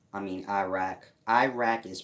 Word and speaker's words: Iraq: eric i mean iraq iraq is pronounced iraq like you are uk the sumerian way supers ancient zuma they have the place called arak you are uk iraq is pronounced like that air iraq same place